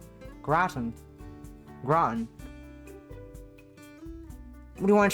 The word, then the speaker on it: gratin: Gratin. Oh. Pronunciation. Gratin.